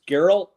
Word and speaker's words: Geralt: we are opening up uh 3.07 which is geralt did I say that right Sean Garrett geralt